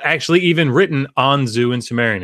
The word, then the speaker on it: Anzu: So it's not actually even written Anzu in Sumerian. It's An-im-dugud. Anyhow. Okay, so now that we've cleared that up, it's Anzu, it's not Zu.